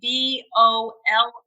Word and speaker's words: Bollier: And our webpage is Bollier for Kansas, and it's BOLLIER, pronounced like a bowl of soup, and say yay, which is exciting.